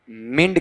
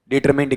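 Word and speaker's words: determined: हाँ जी, हाँ क्या पढ़ेंगे इसे आपका, बताओ देखें, डिटर डिटरमाइंड कहेंगे, डिटरमाइंड कहेंगे या डिटरमिंड कहेंगे? डिटरमिंड कहेंगे।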